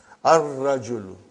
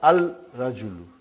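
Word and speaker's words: الرجل: Ar-rajulu. The man. Not al-rajulu. It will be wrong to say al-rajulu. It will be ar-rajulu. We won't pronounce Lam. Why? Because it is a sun letter.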